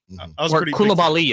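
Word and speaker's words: Coulibaly: seems pretty good actually kabali apparently is how you pronounce it according to the media guide um 10th pick 2022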